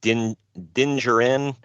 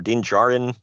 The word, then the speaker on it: Din Djarin: Yeah, it's Din Djarin, I think is how you say it, or Din Djarin, however you emphasize it. I don't think you pronounce the D.